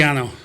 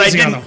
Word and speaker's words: Colizziano: Colizziano. The L is silent. How is that different? I just missed it. Yeah, the L is silent for the most part. But Colizziano.